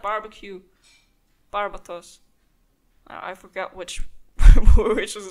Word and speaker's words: Barbatos: Let's head back to the cathedral and let's pray to Barbados. Barbados. Barbatos. Barbados sounds even weirder. That sounds even more like barbecue. Barbatos.